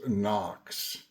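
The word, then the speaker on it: НОКС: It's spelled HOKS, but pronounced NOX.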